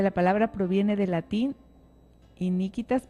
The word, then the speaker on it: iniquitas: La palabra proviene del latín iniquitas. A ver si lo pronuncio bien, padre. Dice, la palabra proviene del latín iniquitas, pero tiene la U. Iniquitas.